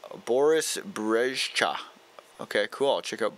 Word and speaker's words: Brejcha: Brejcha, Boris Brejcha. Okay, cool. Yeah, no one would say Brezjo. What was I thinking with that pronunciation?